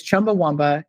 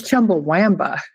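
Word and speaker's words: Chumbawamba: I think it has to do with being Americans versus being British people. I would have bet money that it was Chumba Womba.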